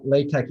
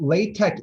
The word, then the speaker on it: LaTeX: without further ado let's actually jump into what latex is what this is all really about this is basically just like a brief history um so what latex is and you'll see this like little bit